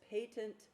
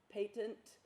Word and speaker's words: patent: this word a lot patent and that's how you pronounce it it's not patent like you know you get a patent for an invention or something patent means